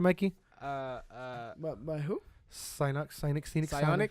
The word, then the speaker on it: Psyonix: I'm pretty sure it's Synox. Am I saying it right, Mikey? But by who? Psyonix. Psionics.